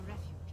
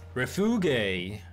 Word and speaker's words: refuge: meet me back at the refuge and we will continue our search. Refuge, or refuge. That's how some non-native speakers say it. They say refuge, because they pronounce the G in a very hard way.